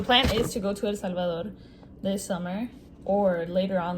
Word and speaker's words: El Salvador: This is straight from El Salvador, if you want to say it in an American accent. And if you want to say it properly, en español se diría El Salvador.